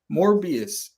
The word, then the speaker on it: Morbius: to Spider-Man in anything morbius or Mobius sorry nothing Craven it you said it right the first time because it was morbid